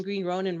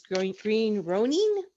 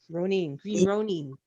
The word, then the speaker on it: Green Ronin: We're pronouncing Green Ronin wrong, just like we are Modifius. It's Green Ronin. Green Ronin.